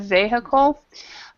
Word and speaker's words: vehicle: right here instead of vehicle it's in English we we actually uh stress the first um first syllable so we say vehicle vehicle vehicle yeah vehicle right all